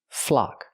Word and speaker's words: flock: a flock of birds pronunciation use the open a sound like clock in Block flock a flock of birds